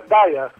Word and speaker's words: Daiha: É Daia, Daia. Daia, não tem a pronúncia do H.